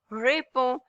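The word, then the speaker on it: réponds: So if you want to say that I respond I respond you would say repo because ending ds we are not pronouncing here and we are conjugating verb with z.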